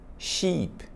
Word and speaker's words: sheep: essa palavra aqui embaixo com dois e ship Sheep que significa ovelha ship navio ovelha certo Let's